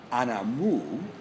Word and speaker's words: anamú: this thing here and that is called anamu spelled uh Anna a n a m Accent on the U and it's uh um